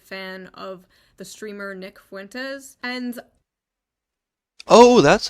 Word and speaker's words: Fuentes: is a far-right fan of the streamer Nick Fuentes, and Oh, that's how you pronounce his last name, okay.